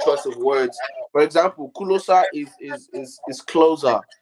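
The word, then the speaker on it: Ku Lo Sa: of words for example kulosa is is is closer it's actually closer but I I pronounce it in the African form kulosa and you know the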